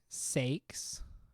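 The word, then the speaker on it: sex: So then back here we can put sakes. That's actually how it is pronounced.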